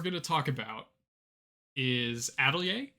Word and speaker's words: Atelier: So the first list we're going to talk about is Atelier. And yes, that is the correct pronunciation of that word. I Googled it and it's Atelier.